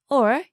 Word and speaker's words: を: Wo is actually more commonly pronounced as o, and n can sometimes be pronounced n or n, depending on the syllable that comes after it.